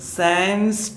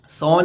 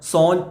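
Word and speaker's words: sans: അടുത്ത വേഡ് നോക്ക നിങ്ങൾ സാൻസ് ടീത് അത് രണ്ടു രീതിയിൽ വായിക്കട്ടോ ഇംഗ്ലീഷ് പിന്നെ ഉച്ചാരണാണ് സാൻസ് ഇത് ശരിക്കും ഒരു ഫ്രഞ്ച് വേഡാണ് സോൺ എന്നാണ് ഫ്രഞ്ച് ഉച്ചാരണത്തിൽ വായിക്കുക സോൺ ടീത് സോൺ ഐസ് സോൺ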